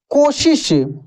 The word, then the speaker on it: कोशिश: क्या रहस्यमय शक्ति देखिए सबसे पहले हम लोग तलब को सीखते हैं दोस्तों का उच्चारण तालू से होता है जैसे शक्ति देख सकते हैं लिखा है क्या शक्ति ठीक ना शक्तिशाली सशक्त कोशिश जैसे कोशिश को श कोशिश कोशिश नहीं कोशिश इस तरीके से पढ़ा जाता है ठीक ना लेकिन